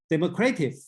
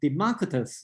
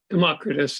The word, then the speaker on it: Democritus: believe this way uh Democratic okay instead you should pronounced as a Democritus or democratic Democritus is the traditional okay I see somebody